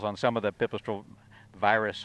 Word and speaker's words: Pipistrel Virus: And in fact, they have some labels on some of the Pipistrel Virus, or Virus is the way they pronounce it.